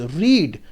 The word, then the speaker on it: read: Okay, R-E-A-D, you know, although we write it as we are going to pronounce it as read, but no, if R-E-A-D is used after the helping verb has or have or had, then the pronunciation will be read.